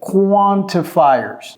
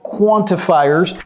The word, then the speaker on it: quantifiers: Quantifiers. OK? Quantificateur, quantifiers. Mais l'américain dira quantifiers. Quantifiers. Il ne va pas prononcer le T, il va tout simplement faire la liaison entre le N et le I, ça fait quantifiers.